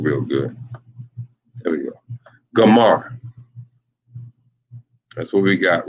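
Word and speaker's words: Gomer: in the Bible and this is how you pronounce their name got a little excited didn't this how you pronounce their name and that is pronounced gamar that is pronounced gamar as soon as I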